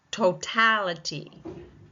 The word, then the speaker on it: totality: Totality. Totality. Second syllable taking the stress.